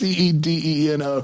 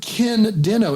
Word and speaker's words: Cedeno: You said Ken Dino. It's Cedeno. There's only one in there.